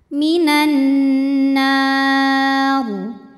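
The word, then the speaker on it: مِنَ النَّارِ: Nunnya dinamakan dengan gunnah musyaddadah karena nun bertasydid. Cara bacanya dengung. bunyi N-nya tahan sampai ada suara masuk hidung. Minan nar.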